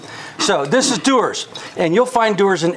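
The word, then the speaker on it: Dewar's: deer and headlight because it's spelled d-e-w-a-r-s and it's like that's dwarves no it's not it's pronounced doers but uh most bartenders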